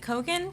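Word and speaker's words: Keoghan: my God yes then this Barry kogan you pronounce it kogan hen yes fellow in saltburn yeah a young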